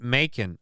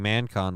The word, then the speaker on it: Macon: __ ] yourself they pronounce it Macon oh that's why Macon not man it's the way it's spelled it looked like you'd say oh Macon I was saying mancon wasn't a Macon Macon